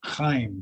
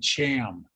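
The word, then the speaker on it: Chaim: and truman responded by not being able to pronounce heim c-h-a-i-m truman called him cham and they laughed and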